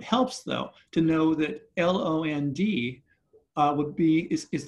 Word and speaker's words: land: we know that because l-a-n-d in middle english would be pronounced with a short a so it would be pronounced lond right l-a-n-d in middle